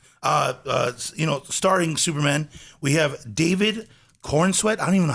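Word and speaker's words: Corenswet: Starring Superman, we have David Cornsweet. I don't even know how to say it. Is that how you say Cornsweet? I think you got it right. Cornsweet?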